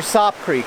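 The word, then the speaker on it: Sope: it's spelled ope and if you put an s in front of it that's soap so i'm calling this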